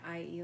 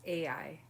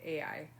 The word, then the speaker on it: Ai: I would think I was calling it IE last time but I think it's AI I think you say AI anyway everybody seems to